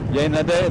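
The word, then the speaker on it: Hyaenidae: In French you call it Hyena day. This is the name of the family. In English it might be Hyena D. I don't know how you pronounce it correctly. I'm kind of studying by myself. Hyena day, that's right.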